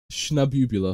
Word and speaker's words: Shnabubula: Shnabubula. Shnab. It's like, okay, the ending part is like nebula, right? It's like eula.